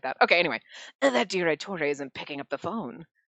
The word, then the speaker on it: Direttore: Sure, it's Direttore. You probably don't pronounce the E like that, but that's the way I do it, so whatever.